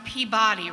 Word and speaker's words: Peabody: And I said, okay, but you know that's pronounced Peabody, right? And well, let me tell you, them was fighting words. So here I am, and I'm saying Peabody.